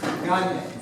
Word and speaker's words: Gange: Remember, I said Gange like lasagna. Gange.